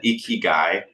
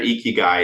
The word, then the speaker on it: ikigai: every Creator makes this graph it's called an ikigai it's spelled i k i g a i if they find their icky guy it's the it's when all four of those